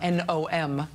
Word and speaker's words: NOM: Yesterday, a group called the National Organization for Marriage, its initials are NOM, pronounced nom nom nom.